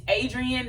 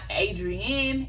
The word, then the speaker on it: Adrienne: is adrienne period it's adrian not adrienne adrienne a-d-r-i-e-n-n-e yes drizzy i